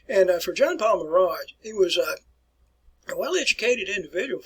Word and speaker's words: Marat: And that's the way you want to pronounce his name, The Death of Marat. And for Jean-Paul Marat, he was a well-educated individual.